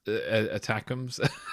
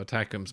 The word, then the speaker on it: ATACMS: so um number one it took me a while to work at how to pronounce this attacks until I read the article VI I oh that's how you pronounce it because I was like looking at this acronym thinking how on Earth do you pronounce This Acronym so attacks make sense um and as you